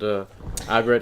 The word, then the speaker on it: Aggretsuko: We started watching that new Sanrio Netflix series called Aggretsuko.